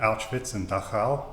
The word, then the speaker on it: Auschwitz: um Frankel's experiences in the concentration camps specifically Auschwitz am I pronouncing that correctly yeah perfect okay the second